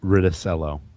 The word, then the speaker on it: Riccitiello: John Riccitiello. Good Good, God, spelling bee champion, right? good Italian name. Riccitiello.